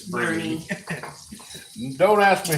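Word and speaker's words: Boerne: or not if you're not from Texas it's boury if you are it's Bernie don't ask me how that works kind of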